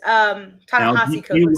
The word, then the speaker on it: Ta-Nehisi Coates: Ta-Nehisi Coates. Sorry, that's how you pronounce it.